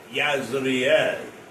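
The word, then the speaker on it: Jezreel: Now, Jezrael is a a a substitute word for Israel. In in the Hebrew, Jezrael is pronounced Yazar and Hebrew is pronounced Israel.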